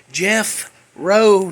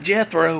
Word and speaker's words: Jeffro: Jeff Rowe, not Jethro like Beverly Hillbillies, but Jeffro, like Jeff and then Rowe.